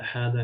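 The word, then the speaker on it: هذا: For example, number one point is hada is pronounced as hada with ha with alif, hada, but it's written as haza, right? But we pronounce it hada without the first alif.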